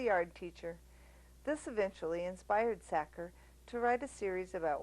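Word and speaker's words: Sachar: his name wrong sacker pronounced sacker like someone who stuffs potatoes in sacks writes funny books he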